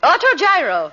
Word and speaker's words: autogyro: How do you pronounce it, Millicent? Autogyro.